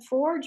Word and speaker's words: forge: that reminds me of Forge. anything else anybody wants to? Can you spell that? Are you saying forge or forage? I said it wrong the first time. Yeah. F-O-R-G-E, forge, like forging.